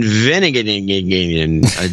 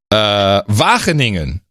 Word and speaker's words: Wageningen: Ivar Vandervelde in Veningen, Netherlands. Hold on. Wageningen.